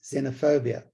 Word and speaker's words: xenophobia: spelled it phonetically okay I know it is with an X but it sounds Z xenophobia so cut me some slack